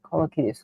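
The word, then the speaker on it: Kolokithas: Let me pronounce it right. Kolakitus.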